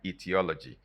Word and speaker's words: etiology: start with e but both of them are pronounced the same way etiology now etiology is